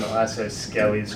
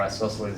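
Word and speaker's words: isosceles: We call it an isockeelly's triangle or isosles if you want to pronounce it correctly.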